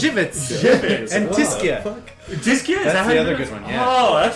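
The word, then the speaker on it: Żywiec: instance like something pronounced that amazing thing it's pronounced jivit and dis one oh that's what I I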